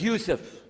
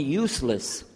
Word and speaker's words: Yusuf: buy some other gone my name is Yusuf he say Yusuf Nyjah Huston very good I wish you teach my wife she keeps mispronouncing it she calls me useless haha home delenn now